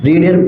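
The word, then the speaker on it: read: এরপরেই কিন্তু ভার্বটা বসবে ভার্বের তিন নম্বর ফর্ম রিডের তিন নম্বর ফর্ম কিন্তু রেড প্রোনাউন্সিয়েট বাট বানানটা কিন্তু সেম তারপরে একটা কি বসবে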